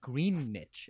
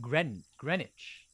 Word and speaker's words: Greenwich: time how about that it's not even pronounced green niche it's pronounced gren greenwich greenwich how gay like